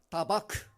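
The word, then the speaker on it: דבק: 다바크. 다바크. 히브리어는 좀 이렇게 그 발음이 좀 세요.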